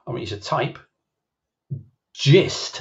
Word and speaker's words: gist: So gist or gist, I think most people pronounce it gist, like in, you know, oh, I think I've got the gist of this.